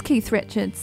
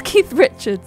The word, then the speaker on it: Keith Richards: Yes, Keith Richards, that makes sense. Hang on, is he Keith Richard? No, he's Keith Richards, so it's Keith Richards' book.